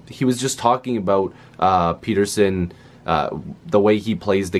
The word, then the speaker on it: Pettersson: elias peterson now again a lot of people are gonna say that's not how you say his name if you search up a video that the Canucks did they were interviewing Elias Peterson I know it's really weird to say it like that but he actually said he would like people to say it Elias Peterson now he'll probably never